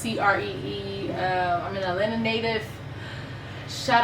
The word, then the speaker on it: Qri: It's spelled Qri, pronounced Cree.